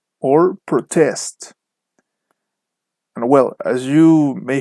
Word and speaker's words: protest: weight is just here with nouns the stress is on the first syllable so from all the previous words that we mentioned before if we put the stress on the first syllable we are talking about a noun I think now with birds and also for adjectives the stress is on the second syllable so if you hear something like protest or insult we are talking about a birth or an adjective so with this classification